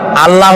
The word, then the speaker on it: আল্লাহ: বলেন তো আল্লাহ নয় কিন্তু আল্লাহ হচ্ছে অশুদ্ধ শুদ্ধ হচ্ছে আল্লাহ বলার সময় মুখটা গোল হয়ে যাবে বলেন তো সবাই উচ্চারণ করেন আল্লাহ আবার বলেন আল্লাহ আবার বলেন